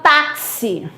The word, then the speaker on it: táxi: Eu tenho quatro letras, mas aí apareceu um X que ele tem um som de KS. Algumas pessoas vão dizer que CS, mas ó, dois sons. É uma letra que representa dois fonemas, tá certo?